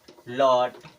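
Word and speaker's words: LOT: जैसे हॉट, लॉट, एच ओ टी, इसे क्या पढ़ेंगे?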